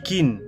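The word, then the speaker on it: กิน: plus faim donc manger ça se dit King c'est un G mais ça se prononce presque comme un cas allez manger allez on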